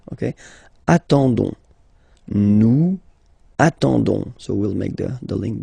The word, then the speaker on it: attendons: nous, so ons, okay, you don't pronounce the s, so you get only this on sound, okay. Attendons, nous attendons, so we'll make the link between the two, la liaison.